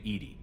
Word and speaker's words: EDI: airlock is a jar why are you named Ed Ed is the phonetic pronunciation of Eed that is an acronym for